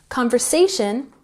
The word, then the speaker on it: conversation: Conversation has the emphasis on the third syllable. Conversation, conversation.